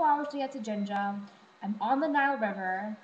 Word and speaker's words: Jinja: Jinja is spelled J-I-N-J-A. It's not said Jinja, like the Boston accent of Jinja, even though I think